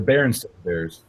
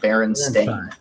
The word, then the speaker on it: Berenstain: told you that the it spelled sta I n like a stain on your clothing Berenstain yeah Barry stone beers